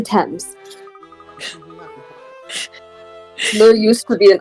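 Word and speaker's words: Thames: way out Beyond Chinatown excuse me sir did I hear you say you're trying to cross the themes not how you say it oh grandmother I didn't realize you were awake it's actually 10 there used to be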